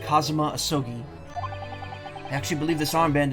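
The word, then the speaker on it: Kazuma Asogi: it's my best friend's name not mine it's pronounced kazuma ahsogi i actually believe this armband in some way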